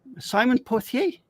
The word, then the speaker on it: Pothier: Pothier. Do I pronounce it correctly?